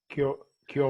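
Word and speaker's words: 今日: Kyo wa? Yeah, kyo. Kyo is today. And it's written in exactly the same characters as konnichi, as like when we say konnichiwa. But it's pronounced kyo.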